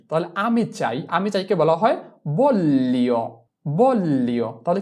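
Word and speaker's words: voglio: এ বল এলি বললি জি এর উচ্চারণটা এল এর মত করে করতে হবে।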